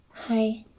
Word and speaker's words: hai: Is pronounced hai.